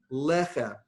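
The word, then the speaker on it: לחם: Lechem, accent on the first syllable.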